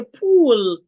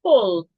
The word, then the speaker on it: pull: An average person will say pool. You want to change your U from U to O, you want to say pull, push, bush, E to C.